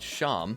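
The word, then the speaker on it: Seam: Going back to Seem, pronounced Sham, he tells you that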